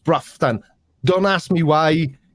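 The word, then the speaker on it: Broughton: is there and it that's how it's spelt but it's pronounced bruffton don't ask me why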